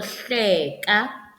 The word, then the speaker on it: hleka: is another syllable so the word hleka has two syllables hle kaa hle kaa okay then there is